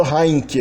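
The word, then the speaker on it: handjie: Hanje, que é a mãozinha, na verdade é pronunciado heinke. Então ele não só é pronunciado como um K, embora tenha um D ou um T na ortografia, como também ele força uma espécie de ditongização da vogal central da palavra.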